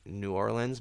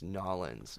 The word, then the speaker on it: New Orleans: Wait, also too, like I always say New Orleans, but like they're like, no, it's Nolans, Nolans. Yeah. Narlands, whatever it is. So I'm saying it wrong.